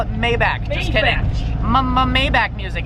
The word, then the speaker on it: Maybach: You guys don't like the way I pronounce Maybach? Then I'm gonna call it Maybach. Just kidding. Maybach music.